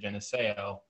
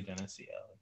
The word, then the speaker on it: Geneseo: when I first got there, I used to pronounce it Geneseo, and I kind of pronounced it Geneseo my entire time there, and to this day, I decide to just pronounce it Geneseo, but it's really Geneseo.